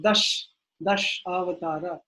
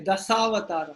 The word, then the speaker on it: dashavatara: You don't say dasavatara. If it's the bunny is missing, the line is missing on the head, then how will you pronounce it? Dasavatara. But if it's the line is there, dashavatara. So you don't put the dot, it's not dashavata, right? You don't put the dot below because it's not cut off. Dashavata, dashavata. No, it is dashavatara.